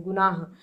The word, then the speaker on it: गुनाह: डी भी नहीं होगा लेकिन गुनाह जब हम लोग पढ़ रहे हैं तो लास्ट में ये जो हे है इसको हम पूरा का पूरा पढ़ रहे हैं गुनाह तो ऑप्शन नंबर सी